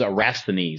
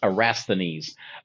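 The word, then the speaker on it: Eratosthenes: into all of it, but his name is Araines. That's how you pronounce that. Okay, I know it's a it's it's pretty long, but it's pronounced arastines.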